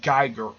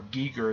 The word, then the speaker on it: Giger: It's credited as H.G. Geiger, or Giger is how you pronounce the guy's name.